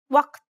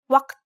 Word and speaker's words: وقت: In Egyptian and Levantine dialects, this letter is a glottal stop, like the stopping sound in uh-oh. Compare the pronunciation of this letter first in Standard Arabic and then in Egyptian dialect.